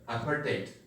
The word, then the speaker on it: apartheid: So the pronunciation is given here, apartheid.